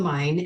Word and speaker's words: Main: so I started on the main or the mine actually that's how they say it and then the rhyme